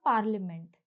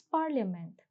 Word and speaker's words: parliament: Now it's not parliament, it's parliament.